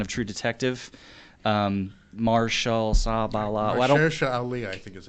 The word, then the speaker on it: Mahershala: Mahershala Ali, I think is how you say it. Yes, thank you. I could not pronounce his first name.